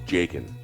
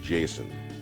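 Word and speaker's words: Jacen: In most Celtic languages, the C is pronounced as a K, and my first natural reaction to produce this name as Jaqen Solo, not Jason.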